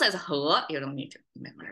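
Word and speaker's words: 禾: Okay, left side pronounced as he.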